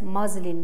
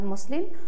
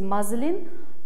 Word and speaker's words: muslin: And muslin, this is pronounced as muslin, not muslin. So the correct pronunciation is muslin, thin cotton cloth.